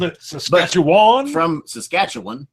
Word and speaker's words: Saskatchewan: All right, so today we have from Saskatchewan, and we received the proper pronunciation before we went live. We wanted to call it Saskawina. No. Close. You called it Saskatchewan? But from Saskatchewan.